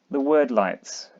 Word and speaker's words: Wyrdlights: The word lights. I'm pronouncing it word light. It might be weird light. I'm going word because of more time, and they officially pronounce Weirdstone as Wordstone.